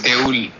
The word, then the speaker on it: দেউল: Even though actually the word, the way it is spelled, it should be Deula, but in Bengali we don't pronounce it, the last O, many times it is silent, so it will be pronounced as Deul.